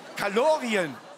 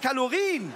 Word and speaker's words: Kalorien: Kalorien. Es heißt Kalorien.